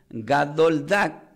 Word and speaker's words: gadol dag: Pero gran pez se pronuncia como gadoldak, que se escribe la G de gato, la